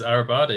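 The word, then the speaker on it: Arribada: is from uh avribada is everybody is our pronunciation it is arabada yeah perfect the arabada initiative uh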